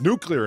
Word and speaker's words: nuclear: The emphasis should actually be on the clee part rather than the new part as well.